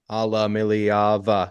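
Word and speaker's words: Iamaleava: my expectations probably because Nico Alam alava alava six syllables he's been better than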